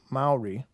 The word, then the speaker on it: Maori: document at ancient Milton Maori Maori okay thank you run the syllables all together this is perfect burial